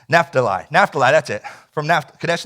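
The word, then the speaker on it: Naphtali: know if I said it right NAFTA lie NAFTA lie that's it from now Kadesh NAFTA lied and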